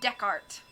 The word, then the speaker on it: Descartes: It's pronounced Descartes.